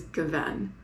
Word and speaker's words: gewesen: I have problems with emphasizing the correct syllable. he corrected my pronunciation of, I think the correct way to say it is gewesen.